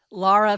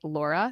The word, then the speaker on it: Lara: So without further ado, let's talk to Lara on the That Was Stupid podcast. Lara, thank you so much for joining the That Was Stupid podcast.